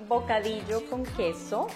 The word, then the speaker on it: bocadillo con queso: Okay, we are making bocadillo con queso, which is like caramel guava With cheese.